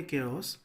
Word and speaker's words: chaos: Spelling है इसके CHAOS, लेकिन हम बोलेंगे केओस।